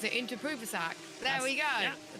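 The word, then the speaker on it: Inthraphuvasak: Because you keep saying that name, I probably will know how to pronounce it. Interpruvasak.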